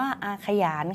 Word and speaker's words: อาขยาน: คะ ว่า บท อาขยาน เขียน ว่า อาขยาน แต่ อ่าน ว่า อาขยาน ค่ะ เพราะ ว่า มี อักษร สูง นำ อักษร ต่ำ เดี่ยว ก็ เลย เหมือน มี ห นำ อยู่ ข้าง หน้า คำ ว่า ยา นั่น เอง อ่าน ว่า บท อาขยาน